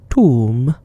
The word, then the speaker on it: Thumb: didn't say thank you thumb pronounced tomb this flower is sometimes